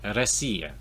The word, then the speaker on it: Россия: This is Россия, Russia.